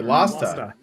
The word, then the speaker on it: Lasta: I am joined by, well, I should have asked you how to pronounce it. Lasta? Is it Lasta? Lasta? Yep. Okay, Lasta.